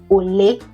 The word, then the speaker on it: Ole: In Igbo is ole.